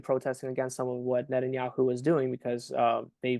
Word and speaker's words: Netanyahu: about I'm sorry I've never been able to pronounce The Minister's name um Nan yahu yeah yeah I don't want to it up Netanyahu Netanyahu yeah Netanyahu okay what I hear about